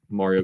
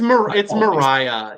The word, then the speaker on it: Mariah: And so I really want to see Mario go far. I think it'll be really cool to see if that happens. So I'm rooting for you, and I might be mispronouncing her name constantly. Yeah, it's Mariah.